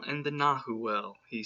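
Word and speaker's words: nagual: rest of his life nahuwel pronounced na wall was the name given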